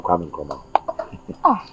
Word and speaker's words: Kwame Nkrumah: That's not how to pronounce my name. Yes, my name is Kwame Nkrumah.